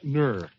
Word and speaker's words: Nur: It's pronounced Ner.